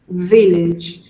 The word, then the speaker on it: village: Be careful with the pronunciation of village. Okay? Village. 2 syllables, Okay. both with E.